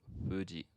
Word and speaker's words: Fuji: of previewed this, but this is a sound that's made with your two lips as opposed to like your teeth and lip. And so it's fuji. fuji.